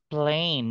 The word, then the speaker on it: plane: Okay, it's plane, not pain, okay?